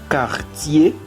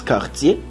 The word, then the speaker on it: quartier: Porque aquí es quartier. Porque ahorita les dije que hay muchas palabras que no se pronuncian la última letra. Sino que en ese, la ER en francés tiene el sonido de E.